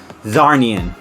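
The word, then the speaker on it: Czarnian: The last Zarnian, I believe.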